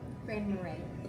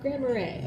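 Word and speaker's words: Grand Marais: How do you pronounce the name of the city? Grand Marray. Grand Marray.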